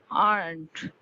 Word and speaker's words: aren't: Lightly r sound, but not vibrated raw.